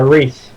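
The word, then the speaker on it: Rhys: name from Torchwood uh Rees Rees yes it was spelled like RH y s which is how it's spelled in Welsh um the video the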